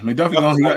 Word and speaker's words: McDuffie: Is it how you say his name? McDuff? Is it McDuffie? Yeah, McDuffie.